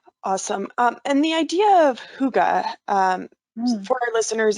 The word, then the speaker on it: hygge: they're living in awesome and the idea of hygge for our listeners it's spelled h-y-g-g-e but it's pronounced hygge and it is a